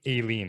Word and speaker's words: Aileen: I had to emphasize the Aileen because last time I said it wrong, even after you introduced yourself as Aileen.